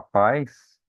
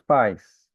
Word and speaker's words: pais: E os pais? os pais vai ficar na mesma sílaba. Vai ser um monossílabo, uma sílaba só.